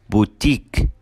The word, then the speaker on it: boutique: Number 7 endings with I Q U E, الكلمات اللي بتنتهي ب I Q U E بننطقها كمان long E, فبنقول unique boutique critique.